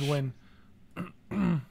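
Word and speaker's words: Nguyen: love scotty newman yeah our win that's how you say it it's win that's a that's a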